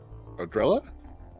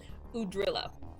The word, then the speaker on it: Udrilla: So Mel's friend's name is Odrilla? Udrilla. Udrilla. It's okay. She never said it right anyway. It's easy to remember. It's you drill Udrilla.